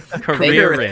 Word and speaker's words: Carrera: It's Carrerith, okay? Carrerith. Kong. Thank you for Carrera. saying it correctly. Yeah. like Tia Carrera.